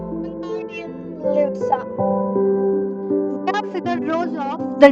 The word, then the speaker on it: Wingardium Leviosa: Wingardium Leviosa, he shouted, waving his long arm like a windmill. You're saying it wrong. Harry heard Hermione snap. It's Wingardium Leviosa.